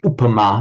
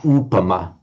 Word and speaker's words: upama: It should be a short u. It is an upama, not upama.